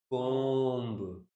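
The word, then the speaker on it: comb: कोम्ब। कोम्ब में जो बी है, वो सारे वर्ड्स होते हैं जिनका हमें ध्यान रखना होता है, जो साइलेंट रहे।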